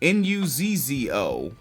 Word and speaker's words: Nuzzo: H if you libertarians continuing an individual by the name of Jennifer Nuzo Nuzzo pronounced it perfect. Uh Jennifer Nuso is uh the director of the pandemic center